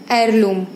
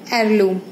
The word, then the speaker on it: heirloom: words you can see those H are silent and we are pronouncing it from vowel sound.